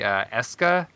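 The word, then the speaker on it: Escha: It's actually Eska and Logi. I thought it was going to be Esha and Logi, but they pronounce it, so it's Atelier, Eska and Logi.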